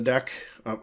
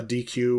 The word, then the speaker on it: deque: uh two different ways of saying it the deck obviously I've been pronouncing it deck it's not pronounced a DQ or dequay or something like that so has both q-